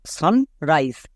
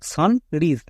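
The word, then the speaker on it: sunrise: next সানরাইজ সান রাইস এখানে ই কেন দিলাম এখানেই দিলাম আই এর একচুয়াল সাউন্ড প্রদান করার জন্য যেমন দেখো সান রাইস আমি যদি ই না দিতাম তাহলে হতো সান রিজ কেন কারণ আই এর শর্ট সাউন্ড ও সিকার তাই হয়ে যেত সান রিজ বাট ই দেওয়ার জন্য হয়ে গেল সান রাইস কেন কারণ আই এর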